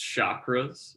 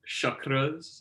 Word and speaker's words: chakras: you often hear pronounced chakras in the west the correct pronunciation is actually uh chakras the a in sanskrit is is pronounced like the u in cup believe it or not